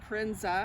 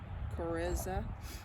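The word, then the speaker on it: coryza: calora infection infectious bronchitis infectious crinsa i think that's how you say it c-o-r-y-z-a chariza merrick's disease thresh air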